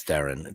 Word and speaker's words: Theron: He had on his couch one day Charlize Theron, that's how you say it, Theron, and John Hamm.